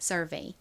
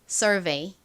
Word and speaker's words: survey: 가장 앞에 S는 시옷 소리가 납니다. 그런데 S가 이렇게 단어의 가장 앞부분에 오고 뒤에 자음이 아닌 모음이 오는 경우에는 보통 좀 세게 거의 쌍시옷에 가깝게 발음이 되는 경향이 있죠. 자, 그리고 UR은요. R 소리 나죠. V는 진동이 들어간 비읍 소리 V 소리 나고요. EY는 A 소리 나서 연결하면 survey가 됩니다.